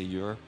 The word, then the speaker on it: Ur: mage named year are it's spelled you are so I'm going to say you're like the abbreviation of your and he wrote a